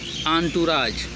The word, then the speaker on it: entourage: अगला है ENTOURAGE, spelling EN फिर टूर फिर एज, इन फिर टूर फिर एज। लेकिन पढ़ेंगे क्या? आंटूराज।